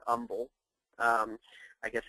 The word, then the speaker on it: Humble: Uh this first one here is um in a uh town called Umble, Texas. Um which is spelled Humble, but here in in uh southeast Texas we pronounce it Umble.